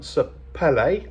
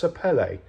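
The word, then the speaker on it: sapele: a uh hardwearing um sapelle I think it is. I I always called it sapel, but I've since learned that it's supposed to be pronounced sapelle, but um anyway, it's it's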